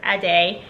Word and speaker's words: Adi: The name Adi, pronounced Ade, is a traditional Yoruba